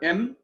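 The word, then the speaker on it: ἔμπροσθεν: Improsthen. Improsthen. Notice the accents on the first syllable, but each syllable is pronounced separately.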